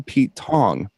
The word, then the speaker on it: Pete Tong: So, a a cochnney phrase is it's all gone Pete Tong because wrong rhymes with tong.